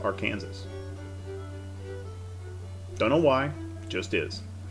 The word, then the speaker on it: Arkansas: the river is pronounced arkansas don't know why just is possibly because the river actually starts or runs through kansas maybe that's why anyway english is a